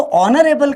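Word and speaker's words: honourable: तो ऑनरेबल का प्रोनाउंसिएशन अगर मैं कहूँ तो एच साइलेंट है यहाँ पर, ठीक है, इसलिए एन का प्रयोग किया गया।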